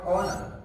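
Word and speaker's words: honor: করি অনেক যে উচ্চারণ গুলো করি সেটা ভুল উচ্চারণ করি যেমন এইচ ও এন ও ইউ আর আমরা কি বলি হনার এটা একচুয়ালি কি হবে উত্তম স্যার এটা হবে অনার অনার এইচ ও এন ও ইউ আর আমরা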